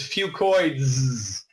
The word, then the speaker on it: fucoidan: say that ten times fast I call it whew coid Z because that's easier to pronounce but really the correct way to say it is few coins okay two coins is an encapsulated few coiling